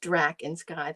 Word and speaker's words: Draakensky: subtitle uh it's pronounced dra in Sky that's the way the Dutch would pronounce it because it's a uh